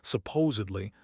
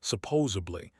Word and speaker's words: supposedly: Think of the word supposed first. I'm supposed to go. Now just add lie to it. Supposed lie. Your brain already knows how to say supposed, so you're just extending it.